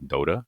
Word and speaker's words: Dota: I don't know that game, but okay, Dota. Is this? Am I saying it right? Yeah, Dota 2, Dota. Dota It's like 2.